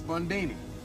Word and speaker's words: Bundini: Bundini. Rhymes with Houdini, yeah, except that don't rhyme.